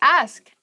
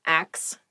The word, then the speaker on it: ask: The next word is ask. Ask. Please pronounce this correctly. It is not axe. Many native speakers make this pronunciation mistake, and it really bothers me.